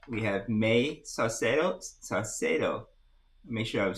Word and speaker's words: Saucedo: Saucedo. Make sure I'm saying it right. are you there? Okay. There he is. There she is. Hey, okay. Oh, Did I butcher your last name? no, Salcedo, that's correct.